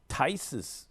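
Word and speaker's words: Theis: In America, I would get Tice, but it's spelled Theus, but it's called Tice.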